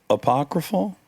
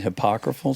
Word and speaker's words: apocryphal: It almost feels apocryphal. It almost seems, but Yeah. Am I saying it right now? Yeah. Apocryphal. Yeah, that's And right. I was accidentally saying hypocrifal sometimes.